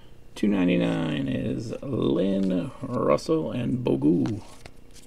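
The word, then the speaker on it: Bogut: is Lynn Russell and bogu he's pronounced bogot Wilson Chandler 14 of 99.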